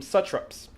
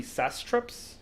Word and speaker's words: satrap: And I'm sure I'm pronouncing it wrong. It might be sastraps. Let's be honest. What don't we ever pronounce right on this show? I'm pretty sure it's satrap. I think it is. I think it is pronounced satrap.